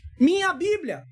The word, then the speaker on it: Minha Bíblia: Alguém veio aqui falar que eu estava fazendo a pronúncia também errada, então vamos para o português. Minha Bíblia.